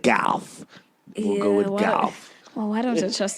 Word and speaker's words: Gauff: Coco Gauff. Looks like Gauff. We'll go with Gauff.